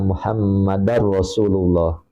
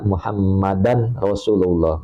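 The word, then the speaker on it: محمدا رسول الله: Seperti jadi gini, ini dia bacanya gini, kan yang betul asyhadu alla ilaha illallah wa asyhadu anna Muhammadar Rasulullah. Dia baca wa asyhadu anna Muhammadan Rasulullah, maka itu juga batal tasahudnya, batal sholatnya, seperti itu.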